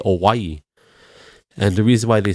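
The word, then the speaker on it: Owyhee: Oregon called o it's it's spelled old w a o w y o y h e so they say awaii and the reason why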